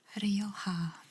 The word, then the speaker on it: Rioja: Rioja, because the J is pronounced with an H in Spain. So, let's see. They talk a little bit about Rioja and a little bit about the wines there, which is nice.